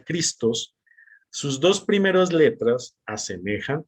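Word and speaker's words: Χριστός: y cuando escribimos en la palabra cristo en griego que se pronuncia cristos sus dos primeras letras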